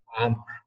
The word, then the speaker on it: Amr: And is it Amr or Amir? It's very hard to pronounce, but I'll give you a funny tip. It's, you say it the exact same way you're eating a burger. It's like Amr.